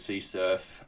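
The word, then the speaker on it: CSRF: I've always said CRF as CSurf.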